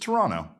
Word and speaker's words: Toronto: It's it's just Toronto. That's it. That's how they say it. There's no emphasis on the T.